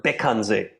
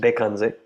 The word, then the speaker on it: Bekhandze: In Tibetan, it's pronounced Bekhandze. Same thing, but different pronunciation.